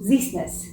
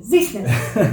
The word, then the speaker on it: Ziesenis: Ziesenis. Ziesenis. Kind of like you're sneezing. Ziesenis.